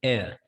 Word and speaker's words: heir: Heir. The letter H here is silent, and the word you can pronounce it by saying heir.